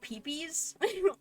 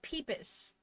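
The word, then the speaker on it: Pipis: Like, I never knew if I should call it, like, peepees, because that's really bad. Or, like, pippis, because I have heard so many people pronounce it like that. But peepus. That makes sense. Okay. It's a mix of the two.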